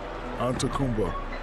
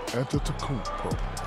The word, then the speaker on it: Antetokounmpo: And would you please, for the audience, say his last name? Anyway. Say the last name. Antetokounmpo. Close. Here you go again. Antetokounmpo. Antetokounmpo. But even it's Antetokounmpo. It's like a like a food, like a beef.